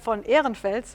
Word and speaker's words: Ehrenfels: The term Gestalt had been coined by Christian von Ehrenfels, I'm just pronouncing this in the German way, whom we also heard